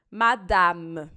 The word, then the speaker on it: madame: Então, toda vez que uma palavra acabar com a letra E, e esse E não tem acento, que é o caso aqui, simplesmente ignora esse E. Vai acabar no M. Madame.